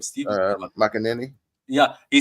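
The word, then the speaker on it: McManaman: McAnany.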